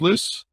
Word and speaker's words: Lyss: company and everything else harrison p is it lis pronounced list list yes sir there you go harrison p